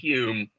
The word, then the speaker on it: Home: n-i-n-n-i-n-i-a-n hume h-o-m-e but pronounced hume as in david hume and he had this